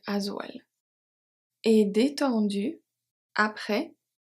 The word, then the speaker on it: après: Et détendu, après, S is silent.